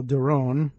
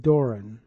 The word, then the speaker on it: Doron: people with that name, one of whom says it, I think, in the Israeli style, Doron, and another who pronounced it Doran. But, well, I'm going to go with Doron on this.